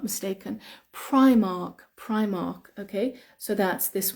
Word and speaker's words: Primark: Primark Primark or Primark the correct pronunciation is I I Primark Primark because it's two words together it's Prime which means number one and Mark Prime Mark Primark Primark and it's I think